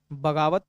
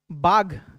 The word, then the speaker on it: Baugh: बाज लेफ्टिनेंट बाज और बाग, BAUGH ना, बाग, या इसको बाज भी बोलते हैं बहुत जगह, दोनों लिख लीजिए आप, है ना, बाज या बाग।